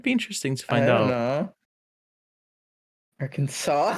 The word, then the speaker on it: Arkansas: That's It's Arkansas.